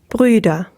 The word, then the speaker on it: Brüder: So when you pronounce the U with an umlaut, you'll raise your tongue to the roof of your mouth as if you're going to say E. So that's the tongue position, is the tongue is high in the mouth, but then you'll round your lips. And when you do that, you get E. Yes.